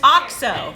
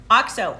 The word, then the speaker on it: OXO: This is this is an Logan, there's OXO. That's how you pronounce it. I was told that when I worked at Williams-Sonoma. OXO, O-X-O. People don't know how to say it. That's the brand. It's called OXO.